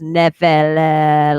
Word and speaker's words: Nephilim: And so then we were researching with people, and the M is silent on Nephilim. And so it's Nephila, like Nutella almost.